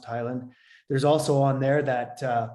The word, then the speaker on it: Heyland: highland is spelt heyland it looks h-e-y-l-a-n-d but pronounced highland there's also on there